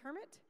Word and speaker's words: CIRMMT: they tell me that the way to pronounce their Center is Kermit um and for Philipe